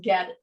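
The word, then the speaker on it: goetta: you're not familiar with it but it is pronounced get get up so ghetto is thought to be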